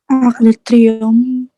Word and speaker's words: Triomphe: Bukan Trom, bacanya de Triomphe.